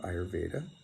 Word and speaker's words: Ayurveda: And while there was this push to give people the knowledge of Ayurveda. In India, they would pronounce it Ayurved.